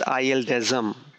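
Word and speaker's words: ILDASM: assembly is known as i desm i d a m i desm this is how we pronounce it the full form of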